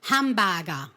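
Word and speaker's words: ハンバーガー: Pero claro, en japonés la palabra hamburguesa hamburger, ¿cómo se dice? Hambaga. Hambaga, ¿no? Ya acaba diferente, aunque empiece igual.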